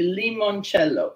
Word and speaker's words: limoncello: You know, it's actually limoncello, L-I-M-O-N.